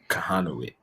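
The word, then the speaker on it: Kochanowicz: Kahanowitz. Kahanowicz. Kahanowitz. The C is silent. Kahanowitz.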